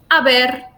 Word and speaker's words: haber: So remember, haber, helado, hielo, hola, you. So just don't pronounce it.